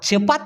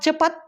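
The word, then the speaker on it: cepat: ভুম শেষ চলে গেল সেই ক্ষেত্রে লাজু আর চেপাত চেপাত যদি আমি বলি চেপাত সি ই পি এ টি এটা যদি দুইবার উচ্চারণ করেন তাহলে উচ্চারণ হবে চেপ পাত আবার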